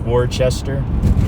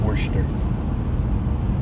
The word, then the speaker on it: Worcester: are we now it's Worcester it looks like Worchester w co r c EST ER yeah but it's pronounced portion earth this bush term as we're driving yeah we